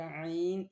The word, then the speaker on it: ع: The Arabic letter आइन is pronounced from the middle part of the throat. The sound comes from deep inside.